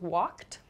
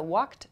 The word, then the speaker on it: walked: So walked, talked, typed. You can hear the ED sound at the end of each verb. It's spelled ED, but the pronunciation is a T sound.